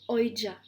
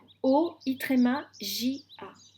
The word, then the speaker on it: Oija: Vous vous appelez Oija. Ça s'écrit Comment O. j'ai écrit ça? Alors, on me l'a fait écrire, hein, donc je vous donne l'orthographe qu'on m'a donné. O-I-J-A.